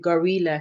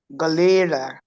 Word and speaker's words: gorilla: Let's Let's make a sentence with gorilla since that's one you have troubles with. Galera is a wild animal. Okay. He's pronouncing it gi. It is that second syllable that you're struggling with.